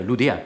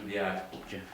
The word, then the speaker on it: Loudéac: Monsieur Loudéac, vous dites bien Loudéac, n'est-ce pas? Oui, comme ça se prononce, le locataire du deuxième.